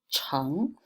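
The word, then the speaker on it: 城: soil or earth radical on the right hand side indicating the pronunciations of this word pronounced at Chung so the puddin together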